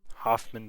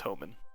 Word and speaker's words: Hohmann: Hoffman transfer, Hohmann transfer. I think it's Hohmann. I don't think that there is a, let's see. Yeah, it is Homan.